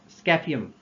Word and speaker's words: Scaphium: है किसकी, चार स्मॉल बोन्स की, जिसको आप प्रोनाउंस कर सकते हैं, फर्स्ट तो ट्राइपस, TRIPUS, ट्राइपस, और इंटर कैलेरियम, और तीसरी है स्कैफियम, SCAPHIUM, और चौथी है क्लॉस्ट्रम, CLAUSTRUM।